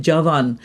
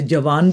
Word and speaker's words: Javan: ए व ए एन हम उसे जवान भी प्रोनाउंस कर सकते हैं जवन भी कह सकते हैं और जैसे भी आप इसे प्रोनाउंस करना चाहते हैं लेकिन जवान जैसे हम कहते हैं नौजवान मतलब उस किस्म की ये इसकी साउंड है जवान जिसे हम अपने